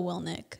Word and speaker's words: Willink: Willink, is that how you pronounce his name? Willink. Yeah.